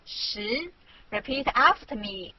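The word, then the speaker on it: 十: chinese culture means ten english this is it's syllable shi repeat after me she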